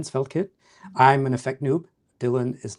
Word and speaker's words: Dillon: I am joined by Dylan. Is that is that how you pronounce your name?